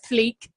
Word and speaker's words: fleek: Okay, Daniel said that his favourite new word is fleek. The story is on fleek. I always pronounce it fleck for some reason.